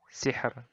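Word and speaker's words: سحر: Nah, ro-nya di akhir ini. Bacanya tipis. Hijr. Sihr. Nah, sihr. Hijr. Nah, kayak gitu. Jadi tipis saja. Tidak ditebalkan.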